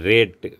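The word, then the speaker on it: read: ஆர்ஏடிஇ, ரேட்டு, விலை அல்லது மதிப்பிடுதல். ஆர்இடி, ரெட்டு, சிவப்பு. ஆர்இஏடி, ரீடு, படி. ஆர்இஏடி, ரெட்டு, ஒரே எழுத்து, ஆனால் படிக்கிறது வந்து ரெட்டுன்னு படிக்கணும். ரீடுடைய பாஸ்ட் டென்ஸ் இது.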